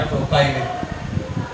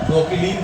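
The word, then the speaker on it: propylene: हिंदी में भी लिख सकते हैं आप, मिथाइलिन, इथाइलिन, या फिर और ये हो गया प्रोपाइलिन, या प्रोपिलीन कह दो, जैसे भी आप उच्चारण बनाना चाहो, प्रोपाइलिन।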